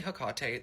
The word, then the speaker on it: Hecate: And yes, I say Hecate. I keep getting people in my comments like, you don't even know how to pronounce her name.